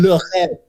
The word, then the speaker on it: Le Rêve: Le Rêve. It's a French word. Say it correctly, please. Le Rêve.